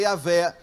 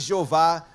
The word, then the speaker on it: Yahvé: E aí pode ser Yahvé, jamais Jeová, jamais Javé, porque no hebraico não existe a letra J.